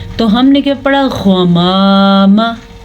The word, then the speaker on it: غمام: غمام، غمام۔ سمجھانے کا یہ مقصد ہے کہ زبر کو آپ لمبا کریں گے تو یہ الف مدہ بن جائے گا، اس لیے زبر کو کسی بھی صورت میں لمبا نہیں کرنا، اس کو اتنی ہی مقدار کے ساتھ پڑھنا ہے جتنا اس کا حق ہے۔ تو ہم نے اس کو کیا پڑھا؟